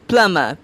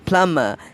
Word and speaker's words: plumber: list oh my god I often hear people mispronouncing it it is plumber PLU and bei this plumb ID is a